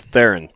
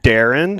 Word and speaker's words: Theron: up the whole yeah my son his name's Theron th e ro in the wrong Theron mm-hmm